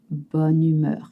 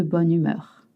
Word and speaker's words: bonne humeur: You notice one sound. Bonne humeur. It's to be in a good mood. Je suis de bonne humeur. You always link. You don't say bonne and humeur, it's always one word.